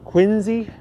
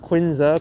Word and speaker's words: Quincy: the quincy market wow you gotta pronounce the watch quincy not quinza quincy oh my gosh i'm